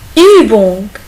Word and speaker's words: Übung: C'est U umlaut. Il se prononce U. Übung. Übung. Übung.